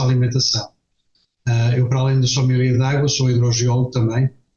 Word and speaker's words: sommelier: E o senhor é sommelier de profissão?